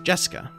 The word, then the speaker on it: Jessica: of weird name anyway those kanji are pronounced jessica she's dad's older brother's